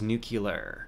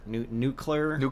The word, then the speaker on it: nuclear: One thing I still have trouble with is nuclear. Nuclear. Is it nuclear? Say it again. Nuclear. Nuclear? Yeah, you can say it like new and clear. Just put the two words together.